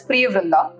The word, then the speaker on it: Priyavrindha: So it's pronounced as Priya Vrindha.